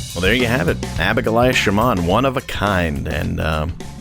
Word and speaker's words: Abigoliah Schamaun: It's pronounced Abigoliah Schamaun.